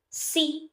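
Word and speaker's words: 呬: Si, pronounced like sir with a slow exhale, which is associated with the lungs.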